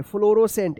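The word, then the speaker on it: fluorescent: ई एन टी फ्लोरोसेंट तो इस तरह से जो है आप साइलेंट सी वाले वर्ड्स को पढ़ना सीखिएगा। ठीक है? ध्यान रखिएगा एस के बाद अगर सी आता है तो क्या रहेगा? सी साइलेंट रहेगा।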